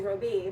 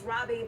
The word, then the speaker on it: Robbie: And of course, I jokingly called you Roby, but obviously it's Robbie.